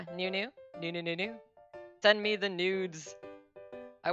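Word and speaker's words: ぬ: to remember it so if you think of new as noodle when we get to may think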